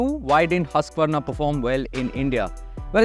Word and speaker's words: Husqvarna: It's pronounced Husqvarna or something like that.